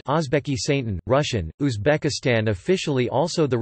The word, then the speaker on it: Oʻzbekiston: Uzbekistan, U.S., listen, U.K., Uzbek, Uzbekistan, pronounced Ozbekistan, Russian, Uzbekistan, officially also the Republic of Uzbekistan, Uzbek, Uzbekistan Respublikasi, Uzbekistan Respublikasi, Russian, Respublika Uzbekistan, is a landlocked country.